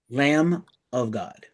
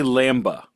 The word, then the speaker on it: Lamb of God: it on Ghost, did you pronounce the B in lamb? Lamb of God. Okay. Lamb. I'm not from the Midwest, bro. Lamb of God. We don't say lambda.